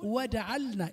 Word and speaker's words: وجعلنا: احذر أن تدغم اللام، هذه لام مظهرة، انطقها لام الفعل الماضي مظهرة ساكنة مظهرة. مفهوم؟